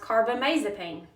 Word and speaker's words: carbamazepine: This drug is generic for Tegretol, and it is pronounced carbamazepine.